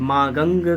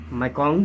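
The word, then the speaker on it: Mekong: मेकोंग, जिसे मागंग कहा था, मेकोंग जी, आगे चल के प्रोनाउंसिएशन यहाँ पर देख सकते हैं।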